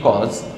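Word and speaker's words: cos: এখানে লেখা আছে কোসাইন, আমরা সংক্ষেপে এটাকে বলি কজ।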